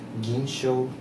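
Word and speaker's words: 銀将: På japanska “gin-schou” eller “gin”.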